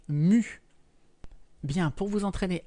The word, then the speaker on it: nu: cette lettre grecque est elle se prononce nu bien pour vous entraîner